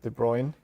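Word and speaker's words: de Bruijn: butcher the uh the Dutch name Nicholas Go De Bruyne um the last name is called is is pronounced De Bruyne I learned but uh I'm not sure about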